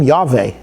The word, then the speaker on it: Yahweh: So uh when you call his Yahweh's name Yahweh you're obvious obviously you're going with a sphartic version. Um I've heard people call it call his name Yave.